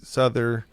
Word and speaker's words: Souther: Souther Is that how you pronounce it?